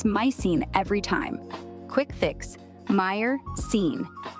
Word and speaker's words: myrcene: Meyer-cene. Sounds like myrcene. Myercene.